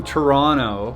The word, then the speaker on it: Toronto: If you're from Toronto, that's how you say it. You don't say Toronto. That's how you know when someone's not from here. You gotta say Toronto.